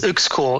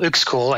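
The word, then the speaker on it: Uexküll: It's Uxkull. Uxkull. Uxkull. Yeah. It's spelled Uxkull. Yeah. We'll try to find a link to something. But his last name, which is tough for Google, is UXKULL.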